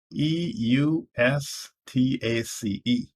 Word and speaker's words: Eustace: i k i who was ukiri third is e u s t a c e i pronounce that as eustace the next is m-o-u-p-a-w